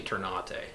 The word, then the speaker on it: Ternate: in here so turning it's actually turn on a I'm just too lazy to enunciate that an extra syllable so I just call them Terran aids for short it's turn